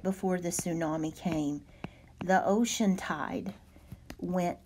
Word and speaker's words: tsunami: the pronunciation for this it is su naam e tsunami this is basically a